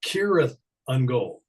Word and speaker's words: Cirith Ungol: Tolkien, which we did several times, there's a whole series of appendixes, and then one's on pronunciation, and you're supposed to pronounce it Cirith Ungol. Cirith.